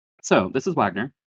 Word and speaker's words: Wagner: So, this is Wagner, not Vagner. This was the first lesson that I learned about this character. Uh, under Knight players are are correct. Um, I went and looked at the the actual pronunciation guide. It it's it's Wagner.